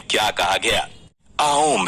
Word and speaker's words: ओम: आओम है। ओम को एक्चुअली में कैसे प्रोनाउंस करना है, ये सुनकर अगर आपको ये